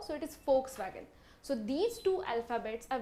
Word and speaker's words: Volkswagen: It is pronounced as V, so it is Volkswagen.